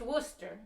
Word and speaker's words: Worcester: and Worcester wost er pronounced Worcester not rooster it's not a rooster it's a Worcester our younger son Patrick